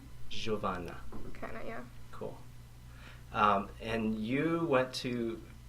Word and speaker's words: Giovanna: say your name yeah in Portuguese it's kind of different but like how do you say you say it's ravana giovanna cool and you went